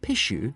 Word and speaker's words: pishu: The word pishu, for example, is pronounced very like a sneeze.